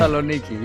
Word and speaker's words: Thessaloniki: Oh, I can't even pronounce that many years ago. Thessaloniki, I guess. Thessaloniki? All right. Thessaloniki, yes.